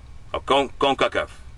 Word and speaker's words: Concacaf: Concacaf.